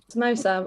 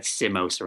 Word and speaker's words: samosa: you might have said samosa instead oh no samosas yeah like mimosa yes yeah so a